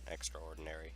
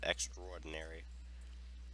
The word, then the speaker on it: extraordinary: I feel like a lot of times, in general, that the letter A is omitted and extraordinary, and it's usually pronounced, and it's said extraordinary. It's hard to differentiate the two, but just saying.